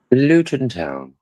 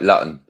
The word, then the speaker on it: Luton: Luton Town. But if you was to look at it in the pronunciation, it would look like Lutton. Latin, but it's Luton Town.